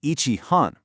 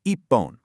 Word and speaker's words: ippon: Now, you do not say ichi hon because hon starts with an H, which often transforms to a P sound in Japanese compounds, the rule triggers. It becomes ippon. Notice that strong double P sound?